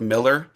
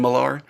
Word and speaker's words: Millar: by the way, because he pronounces his name Millar. You have the comic book writer Mark Millar, but it's actually Mark Millar. Just everyone calls him Millar.